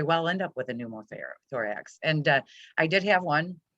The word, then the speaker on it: pneumothorax: Yes, pneumothorax.